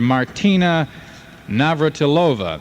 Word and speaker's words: Martina Navratilova: And also, in tennis, teenager Martina Navratilova, that's how they pronounce it over there, moves into fast company today in the semifinal round of women's tennis at Orlando, Florida.